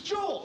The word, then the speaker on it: Joel: It's Joel, okay? It rhymes with bull.